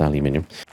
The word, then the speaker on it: aluminium: And yes, it is pronounced aluminium uh in one of these and uh a purified water.